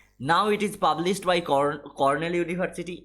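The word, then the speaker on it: Cornell University: নাও ইট is published by কর্নেল ইউনিভার্সিটি, অনেকে কলোনেল বলে, ইট is pronunciation হয় কর্নেল ইউনিভার্সিটি।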